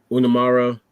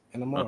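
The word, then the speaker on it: Inamura: So, everyone from Pro Wrestling Noah gave um Unamara. Sorry. I keep saying his name wrong. Enamura. Did I say it correctly? Allstar. Yes. Enamura.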